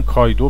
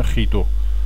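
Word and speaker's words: chi-squared: حالا اینا چیدو رو هم بعضی جاها میگن کایدو، بعضی جاها میگن خیدو، ولی تا اونجایی که من میدونم اصل تلفظ یونانیش چیدوه.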